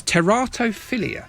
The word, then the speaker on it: teratophilia: got pronounced words correctly it's teratophilia so teratophilia is a sexual attraction to either monsters or deformed people such as anne whitaker it's greek so terato is monster and philia you know about